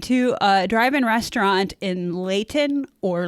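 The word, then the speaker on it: Lehighton: My friends and I went to a drive-in restaurant in Layton or Layhighton. That's Mindy speaking, one of the others, how it's pronounced, about 10 miles from my Summit Hill home in Carbon County for ice cream.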